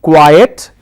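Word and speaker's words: quite: The first one is quiet, Q-U-I-E-T, quiet. I pronounce that as quiet. And the second one is quiet, Q-U-I-T-E, quiet.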